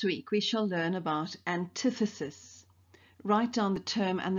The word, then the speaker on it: antithesis: we shall learn about antithesis write down the term and the definition in your bell ringer book and please take note of the pronunciation of the term its antithesis not antithesis in the glossary of